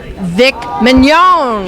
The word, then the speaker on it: Vic Mignogna: I am with voiceover actor and actor Vic Mignogna.